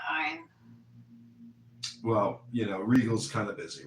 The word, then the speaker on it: Ayn: It's ein. Ayn Rand.